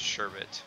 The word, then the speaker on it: sherbet: without an RA and it's supposed to be pronounced sherbet without an R that's fine yeah I